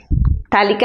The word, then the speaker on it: phthalic: is called phthalic acid p is silent phthalic acid so just see